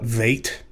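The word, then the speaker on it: vet: olive bet songs uh you would call it vait and that gives you an indication that because this lacks a dog age it is pronounced like the letter v in vine but it's transliterated using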